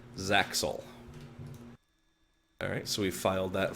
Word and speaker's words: ZAXOL: I believe that's pronounced Zaxel.